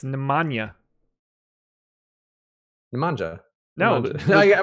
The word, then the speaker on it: Nemanja: know the J is like a yeah it's Nemanja manja no no yeah I might be doing